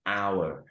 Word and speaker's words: hour: ครับ เพราะ ว่า Our เรา ออก เสียง เป็น hour เรา ไม่ ออก เสียง ตัว เอง เพราะ ฉะนั้น